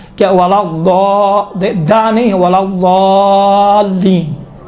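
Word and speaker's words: ولا الضالين: نہیں ہے، ولا ضالین، یہ دیکھیں تھوڑا سا موٹا بنائیں، آپ دال کا تصور کریں، دا ولا ضالین، یہ دال کا ہے، خود تصور کریں، ہاں کہا تھا یہ دال کا تلفظ تھوڑا سا موٹا ہوتا ہے، موٹا آپ کس طرح کریں گے؟ ولا ضالین، دال جیسا ہوتا ہے لیکن کاملاً دال کا تلفظ نہیں ہوتا ہے۔ اما اگر اس سے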